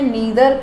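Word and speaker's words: neither: इसको मैंने नीदर pronounce किया है, आप इसको नाइदर भी बोल सकते हैं, बोथ आर करेक्ट, बट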